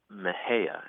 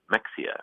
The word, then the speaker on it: Mexia: a funny town here called Maha and it's spelled m x i a and I think if you're an out of town a Yankee you might be tempted to say Mexia right or some other but